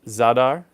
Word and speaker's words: Zadar: to say it right it's zadar Croatia you got a really I used to say zadar no it's zadar but what's happening in